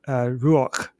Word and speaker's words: ruach: so you say it's pronounced like ruach, but it's kind of a guttural het at the very end.